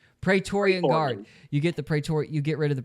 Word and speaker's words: Praetorian Guard: Praetorian Guard.